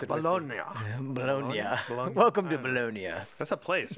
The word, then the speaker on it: Bologna: Bologna's oh honey I love that they properly pronounce it alone welcome to bolonia that's a place right is their place sounds